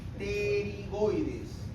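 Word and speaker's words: pterigoides: Hacia abajo tenemos estas apófisis que son las apófisis terigoides. Se escribe PT PT Pigoides.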